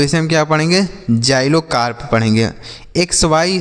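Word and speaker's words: xylocarp: जाइलोकार्प पढ़ेंगे। एक्स वाई से पढ़ेंगे जाई। क्या पढ़ेंगे? जाई। एल ओ से पढ़ेंगे लो और सी ए आर पी को हम पढ़ेंगे कार्प। तो लिखा गया है जाइलोकार्प।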